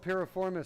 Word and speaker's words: piriformis: so that I think that's about that's called piriformis syndrome okay spell it for him b-i-r-i-f-o-r-m-i-s you probably have piriformis